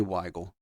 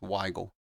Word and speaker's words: Wile: so Wile Wile definitely Wile like seagull but with a Y it's Wile uh all right let's